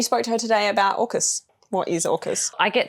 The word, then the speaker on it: AUKUS: Um so Orcus A u K us is how it's spelled but in Instagrammer will always correct to orcus as in killer whale. Um, it's definitely August. A for Australia, UK for United Kingdom, US for United States.